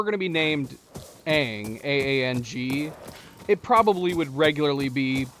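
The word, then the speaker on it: Aang: That if if you were going to be named a A N G, it probably would regularly be pronounced, but the character and the creators said it's pronounced Ang.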